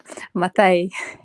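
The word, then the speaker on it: Maathai: I'm sorry that I said her name wrong. I'm sorry. It's okay. Matai? It's okay. Matai.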